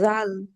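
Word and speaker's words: ذال: নোক্তা বা ডট যদি আমরা দেই তাহলে বলব জাল না এটা এটাও ঠিক এই ফা এর মত নরম করে উচ্চারণ হবে জাল জাল জাল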